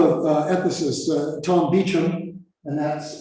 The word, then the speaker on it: Beauchamp: uh emphasis uh tom beacham and that's it's pronounced beecham not beauchamp and james childress developed